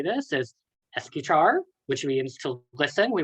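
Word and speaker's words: escuchar: reevaluate and look how to say this is esky char which means to listen we want to listen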